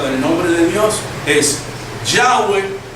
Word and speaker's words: Yahweh: Tú escribes eso en un papel y tú agarras un judío y le dices: ¿cómo se pronuncia eso? Y el judío te va a decir: Yahweh.